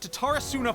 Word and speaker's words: Tatarasuna: We mustn't let Tatarasuna fall to the enemy. That's how you pronounce it, Tatarasuna.